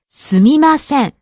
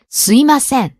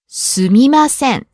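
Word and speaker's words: すみません: mm-hmm it's quite a humble phrase the correct pronunciation is sumimasen but you might hear some people pronounce it like swim ascend some people leave out to em sound yeah you hear this quite a lot SUIM ascend it's quite common in spoken Japanese now but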